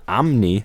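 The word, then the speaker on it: Amney: Pronouncing the guy's name again? Amni, A-M-N-E-Y, Mutasimi, Amni.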